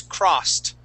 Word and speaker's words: crossed: When the word ends with a S, okay, like cross, okay, that ed, okay, or that S sound, okay, and that ed sounds like a T. The word is crossed.